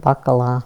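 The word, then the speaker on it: baccalà: a fish in that you said it right baccala but we didn't like it and it was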